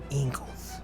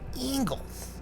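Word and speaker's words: Engels: communist manifesto marx and ingles i wish i knew how to say his name it's like eagles eagles it's really weird marx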